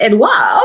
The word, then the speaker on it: Edouard: why I was like, "Oh, it's Edoa. Okay, that's easy.